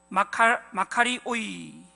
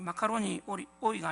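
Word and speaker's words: μακάριοι: 헬라어로는 마카리오이라고, 마카이오리, 마카리오이. 이 마카로니 오이가 아니고 마카리오이, 발음이 잘 안 되는데요.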